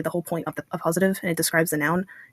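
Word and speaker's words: appositive: So I wanted to do an Apositive because I wasn't sure how this was going to go, and it's a pretty simple thing to explain.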